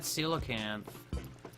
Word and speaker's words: coelacanth: I want to try catching that coelacanth. Is that how you pronounce that?